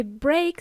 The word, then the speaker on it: brake: By the way, break sounds the same as break, which is spelled differently. B R A K E.